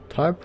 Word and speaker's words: TARP: bailout the troubled asset relief program or tarp pronounced tarp was designed to allow the government to buy